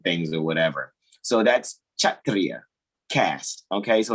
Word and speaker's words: Kshatriya: belonging to the, and that's actually pronounced Kshatriya. When they put the K before the SH, it has the CH diphthong.